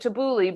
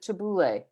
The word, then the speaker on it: tabbouleh: make tabbouleh and so i'm pronouncing it tabouli but you pronounce it tabouleh yeah is it a